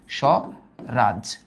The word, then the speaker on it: স্বরাজ: এটা নর্মালি স্বরাজ, স্বরাজ। ওকে, বফলা আদিতে থাকলে তো ব্যবহার হয় না।